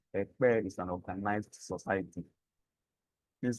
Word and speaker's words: Ekpeye: Can we pronounce it? Ekpeye.